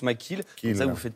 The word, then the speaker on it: McKelle: extrait de robbing makila lorsque j'écris mackay qu'à eux deux et le mais ça se prononce mcgill qui est même vous